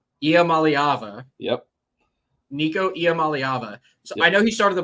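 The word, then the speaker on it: Nico Iamaleava: it believe it or not IAM malava yep Nico IAM malava I know he started the bowl game last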